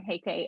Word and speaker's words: Huyk: can find me on LinkedIn at heike again hey KK is spelled h-e-y-k-e doesn't look like how it's pronounced